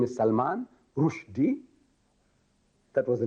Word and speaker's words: Rushdie: And Rushdie, see, Rushdie should be spelled rightly, the way we pronounce. Rushdie, R-O-O-S-H. Rush. D-E-E-D. Rushdie. But no, you see, the father anglicized the name. R-U-S-H. Rush. D-I-E. What is D-I-E? Die. Rush. Die. Die.